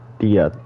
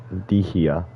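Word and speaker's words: Dehya: Dia, that's how you pronounce her name. I thought it was like Dihia or something when I saw her.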